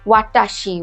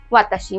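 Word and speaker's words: わたし: यस, वो इसको ऐसे ही पढ़ेंगे क्योंकि रोमाजी में ऐसे ही लिखा हुआ है, पर इसको तो हम ऐसे प्रोनाउंस नहीं करते। इसको क्या बोलते हैं? वाताशी वा निहोन नो दाइगाकु नो काकुसेई देसु।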